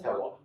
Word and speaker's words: terroir: the Terroir. Okay, Yeah. not Francois. Okay. Rhymes with Francois.